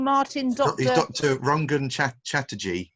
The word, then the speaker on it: Rangan: Rangan Chatterjee. So R-A-N-G-A-N, Rangan, phonetically, Chatterjee.